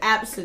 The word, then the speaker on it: Abcde: absent yes you pronounce it that's how you pronounce you speller ABCDE i learned now say absent i love it she won't get a job